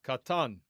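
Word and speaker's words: קטן: And so it's pronounced katan, stress on the final syllable.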